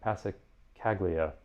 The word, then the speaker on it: Passacaglia: in something akin to a how do you pronounce that? Passacaglia.